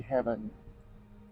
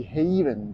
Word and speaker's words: Haven: So If you don't mind spending a little bit more, then try out the Heaven. Or the Haven, that's the correct pronunciation.